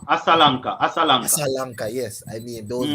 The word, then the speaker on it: Asalanka: Nasanka, and I And cannot pronounce the next Alasanka, name. Asalanka.